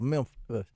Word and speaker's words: Memphis: It's it's you got to emphasize it's two syllables. Memphis.